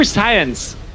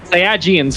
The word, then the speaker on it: Saiyans: This is like the Super Saiyans. Did I pronounce it correctly? The Super Saiyans. Yes. Or Saiyajins, whatever.